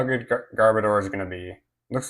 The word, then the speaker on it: Garbodor: It looks like um Garbodor or Garboder, I don't I don't know how to pronounce this Pokémon's name.